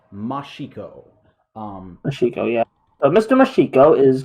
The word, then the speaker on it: Mashiko: But I would say it's Atsuki Mashiko.